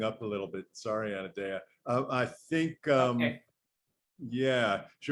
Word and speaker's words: Anodea: Is that correct, Anodea?